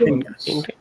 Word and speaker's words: Elias: Erstens Matti, Jakob und Elias. Elias, ne? E-L-I-A-S. Don't pronounce it as I-L-Y-A-S. Huh? That will be a Islamic name.